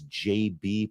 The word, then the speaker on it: JB: He is, in fact, Jabba, the governor. Sorry. Apparently, it's pronounced JB.